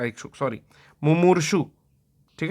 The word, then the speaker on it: मुमूर्षु: अगला प्रश्न है, जो मरने का इच्छुक हो, मुमुक्षु, इच्छा, तो इच्छा जब आएगा, मुमुक्षु मतलब मोक्ष का इच्छुक, सॉरी मुमूर्षु, ठीक है, तो मुमूर्षु मतलब जो मरने का